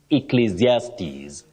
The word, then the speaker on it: Ecclesiastes: words that can be difficult for anyone to pronounce but this one you say then zes Ecclesiastes Ecclesiastes can you try it even B is